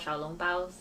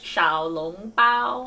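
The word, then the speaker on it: xiaolongbao: Yeah, they're called xiaolong baos. There you go. Soup dumplings. Soup dumplings. How do you say it? Xiaolong bao.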